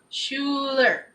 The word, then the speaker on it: Schuler: Schuler. That, and It's not spelled the same. Schuler. Schuler. Oh. It's spelled Schuler.